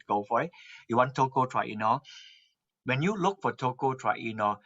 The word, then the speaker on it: tocotrienol: You want tocotrienol, and the tocotrienol is spelled like this: TOCOTRIENOL, tocotrienol. If you type my name, it will be all over the map. I'll give Okay. you enough link to go for it. You want tocotrienol.